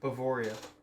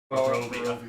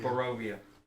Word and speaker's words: Barovia: How did I pronounce it? Bavaria. Barovia. Barovia.